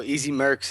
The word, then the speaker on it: EZ Mrcz: So Easy Mrcz is what it started out as.